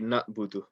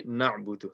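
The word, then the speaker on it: نَعْبُدُ: Speaking of ayn, you don't want to say na'budu. You want to say na'budu. So make sure that, you pronounce the ayn as clearly as you can.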